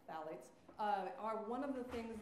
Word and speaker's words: phthalates: masking fragrances in it phthalates that word is pronounced ballots are one of the